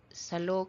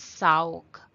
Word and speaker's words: salog: Ko is e sa is like the here salog salog is floor sometimes we pronounce this as saog the letter l will become w saog okay salog or